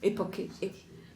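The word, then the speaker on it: époché: Ça s'écrit comment? E-P-O-K-H-E, enfin, époqué.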